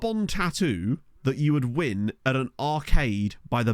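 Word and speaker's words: Nguyen: as part of that I think it's pronounced win so t i remember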